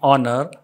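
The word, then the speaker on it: honour: जसे for example एनर एच ओ यू आर इसको हावर नहीं पढ़ेंगे और पढ़ेंगे ओ की आवाज निकलेगी एच साइलेंट है एन र एन ऑनर and honest and yellow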